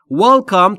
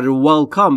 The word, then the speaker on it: Welcome: Welcome تلفظش رو باید دقت بکنید. زمانی که میخواید W رو در Welcome و کلن W رو تلفظ بکنید، لبهاتون حالت لولهی باید داشته باشه یا حالت بوسه، انگار میخواید یکی رو ببوسید و هوا خارج میشه از دهان شما. Welcome. پس تلفظ Welcome اشتباهه.